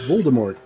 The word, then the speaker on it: Voldemort: not that this is Harry Potter bad guy Voldemort vmont vort V vmont sounds like wine better because it's like Vermont but vmont vmont vort you pronounce it Voldemort Voldemort yeah V it's a v Voldemort it's